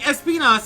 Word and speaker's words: Espinas: Yeah, like Espinas is like closer to how you should actually be pronouncing it. We are pronouncing it the funnier way. How do you like pronounce the word in Spanish? Like Espinas. accurately, I mean. Espinas. Got it. Because the A makes an ah sound, and the I